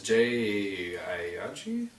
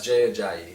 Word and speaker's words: Jay Ajayi: Another one is Jay Ayaji, Miami Dolphins. Jay Ajayi. Ajayi. Ajayi. Yeah. I can't That's tough to pronounce pronounce.